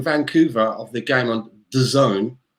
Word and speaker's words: DAZN: of the game on the zone apparently i've been told it's not dazn i've been saying it wrong it's designed but i'm